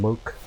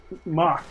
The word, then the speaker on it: Mock: Airman from Mook? Oh, Mock. I know what I said. It's not a mukbang. His name is Mock.